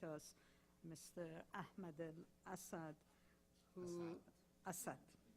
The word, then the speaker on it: Assaad: Ahmed Assad who Assad I thought if I say Assad you will say this is a persan yeah as said if I say Asad you will say this is a Persian pronunciation so switch it to Arabic okay make it clear